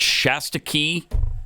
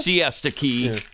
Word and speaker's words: Siesta Key: Hurricane Milton made landfall last week, of course, in was it Shasta Key, Florida? Is that how you pronounce Siesta? it? Siesta Key.